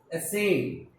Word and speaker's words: ascend: Here we find C as a silent. We don't pronounce it. We just pronounce S and E.